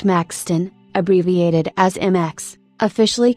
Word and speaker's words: Maxthon: latest 5.15 on 9:06 Maxthon formerly my a2 pronounced Maxton abbreviated as MX officially